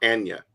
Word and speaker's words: Anya: to say her name it's Anna or Anya I don't know how to pronounce it but it's a-n-y-a it's uh Kanye but with an A and no k oh yeah Anya Taylor